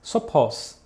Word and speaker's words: σοφός: Por exemplo, em grego "sábio" se diz σοφός e "sabiamente" σοφῶς ou seja: a única diferença entre as duas palavras é que a segunda termina por uma sílaba longa, ao passo que a primeira, por uma curta.